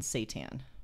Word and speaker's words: seitan: a vegan tofu tempeh and seitan oh like satan like the lord of darkness that explains a